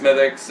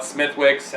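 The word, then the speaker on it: Smithwick's: name well you well people like mispronounced mythics and call it smithwicks and and infuriating i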